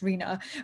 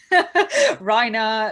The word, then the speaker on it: Rena: my name properly it's it literally sounds like tina it's rena but i get all sorts rhino like rihanna like it all sorts